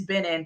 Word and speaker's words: Binin: and now everyone says Benny and I'm like it's not Benny it's B in but fine but at